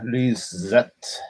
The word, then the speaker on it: Lyseth: Lyseth, because the TH is like a T. Yeah. And the Americans want to go S.